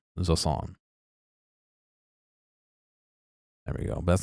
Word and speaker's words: Jusant: is a French word J is pronounced like the English z sound similar to s in